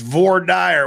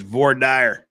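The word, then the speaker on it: voir dire: pronunciation of VOR Dyer it's Vore Dyer where I come from then there's vadir stuff it's vorder oh I said GPT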